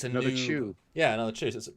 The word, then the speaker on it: Chu: which implies it's another Chew. Yeah, another Chew. So it implies a new performance. And it's Chew as in Eric Chew. Oh, our buddy Eric Chew, not Chew as in CHOO, like choo choo, like right.